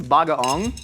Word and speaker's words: bagoong: This is bagaong. Good job. Bagaong? Did I get the pronunciation? Yeah, bagaong, Heck yeah. not bagoong. Not It's bagoong.